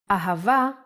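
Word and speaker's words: אהבה: and a the word ahava uses it in both ways when hay appears in the end of the word it will always sound as a ahava is love in hebrew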